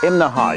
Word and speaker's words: Imnaha: morning we're in imnaha now that's three syllables imnaha you have to say it that way or people in town will laugh at you right behind me that's